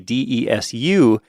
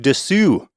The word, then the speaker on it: desu: But that's almost always, you just don't pronounce the U at the end. It's just des instead of desu.